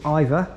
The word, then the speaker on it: Iver: The next station we're visiting is Iver, which is spelled I-V-E-R, not E-I-T-H-E-R. Not Iver as in, would I prefer Man United or Iver Man City?